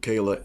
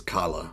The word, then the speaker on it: Kalah: of all congratulations to kayla and my apologies for pronouncing your name wrong throughout my presentation i thought it was kala which is also a nice name um so you you